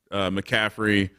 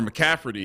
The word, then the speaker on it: McCaffrey: 5,400 stacked up with McCaffrey or McCafferty if you like that pronunciation better, and Sammy D.